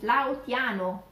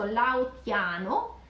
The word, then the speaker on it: Laotiano: So Laos, the nationality is is Laotiano, Laotiano, so we have that T there, so Laotiano, Laotiana, mm-hmm.